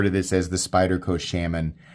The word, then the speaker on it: Shaman: Really like I always refer to this as the Spyderco Shaman. It's pronounced shaman, bro.